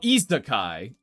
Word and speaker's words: isekai: Oh, isekai.